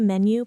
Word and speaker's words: menu: Can I see the menu, please? Deep dive. Menu stress the me.